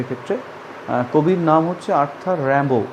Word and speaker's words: Rimbaud: কবির নাম হচ্ছে Arthur Rambo, উচ্চারণটা হবে র্যাম্বো বা র্যাবো, কিন্তু স্পেলিংটা লিখতে হবে রিমবাউড, RIMBAUD, রিমবাউড, but pronunciation will be Arthur Rambo.